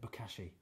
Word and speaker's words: Bokashi: Just the way you've already said it, Bokashi.